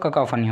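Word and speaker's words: cacophony: इसका प्रोनाउंसिएशन आपका ककाफनी होगा, ठीक है ना, ककाफनी।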